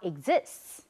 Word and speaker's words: exists: 好，听完了答案，同学们答对几个呢？我们来听老师解释。A college student was in a philosophy class where there was a class discussion about whether or not God exists. 好，这里有2个答案，我们先看一下。第一个叫 philosophy，P-H-I-L-O-S-O-P-H-Y，philosophy。OK，那第2个的答案叫 exists。Again，T 后面加 s，念什么？念成 ts，所以这个字不要念错，不要念成 exists。是我们一再的重复，我们从上一讲到这里都在让同学们练习这个 t 加 s 的发音，叫